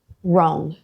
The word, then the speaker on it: wrong: WR, when W comes before an R at the start of a word, the W is always silent. Right, wrong, wrap, wrist. You skip the W, just start with the R sound.